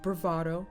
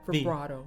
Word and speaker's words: vibrato: more bravado in it am i pronouncing it the brother with a v bravado vibrato vibrato i always say bravado is a very different thing all right vibrato um